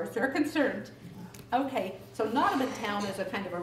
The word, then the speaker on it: Nottamun Town: Anyway, Nottamun Town, and I always sang it Nottingham Town because I thought people made a mistake and were saying it wrong. But they didn't. It was Nottamun Town.